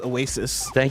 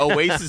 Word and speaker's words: Awaysis: Remember, Oasis is spelled AWAYSIS. Like your sister is going away.